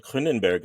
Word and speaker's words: Kroonenberg: to be here and I love how you said kenberg I've didn't realize that's how it's probably pronounced yes that is uh that would actually be the Africans Ken is how we would say it in Africans ah okay I like